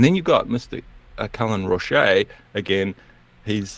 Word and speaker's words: Roche: Cullen Roche again. He's do you know that it's pronounced Roche?